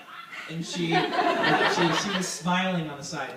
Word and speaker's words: Sidhe: Can someone pronounce that? It's Gaelic. She. Do you say she?